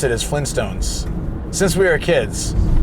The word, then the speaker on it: Flintstones: But the people admit the T because the way we pronounce it is Flintstones since we were kids. It's like Flintstones meet the Flintstones, right? Like so we don't really pronounce the T just the way it